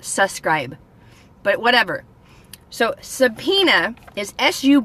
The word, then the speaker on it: subpoena: dad's a good guy subpoena is today's word of the day subpoena now subpoena a lot like subscribers is being pronounced differently than it's written have you ever watched